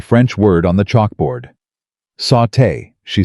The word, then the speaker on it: sauté: Sauté, she said firmly. Not sotay. The accent is on the second syllable.